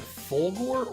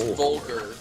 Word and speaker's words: Volgar: I think it's Volgar, like, but it's a play on vulgar, you know?